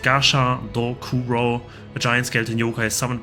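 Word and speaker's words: Gashadokuro: Pronounced Gasha Dokuro, a giant skeleton yokai summoned by Kelly.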